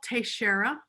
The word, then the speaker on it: Teixeira: your name how do you spell it and pronounce it just so that um it's tashera and the last name is uh t-e-i-x-e-i-r-a it